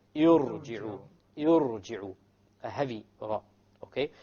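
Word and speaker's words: ارجعوا: Notice now, the ra is what? Silent. Silent first. There's a sukoon there. Okay, the ra is silent. Before the ra is what? This is what we call hamzatul wasl. This is a hamzatul wasl. It has been placed there because if you were to start this word, how are you going to start it from a silent ra? You cannot pronounce the silent ra.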